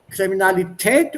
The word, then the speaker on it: Kriminalität: Kriminalität oder Kriminalität? Kriminalität. Kriminalität. Kriminalität. Kriminalität. Ja. Das ist Tät.